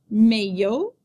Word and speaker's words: maillot: In the middle of a word, the letters I-L-L usually represent the sound y, like the y in yes. Repeat after me. Maillot, maillot, travailler, travailler, oreille, oreille, vieille, vieille, fille, fille, famille, famille, juillet, juillet.